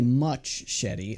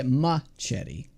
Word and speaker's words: machete: Well, I don't say much shetty. I say machete.